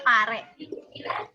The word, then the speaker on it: pare: Jadi bukan pare atau ini ya. Bacanya pare.